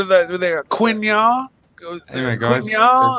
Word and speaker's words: quinoa: Hey, Mike, I think one of the reasons you'll never get a Rolex from an AD is because you say quinoa. It's quinoa.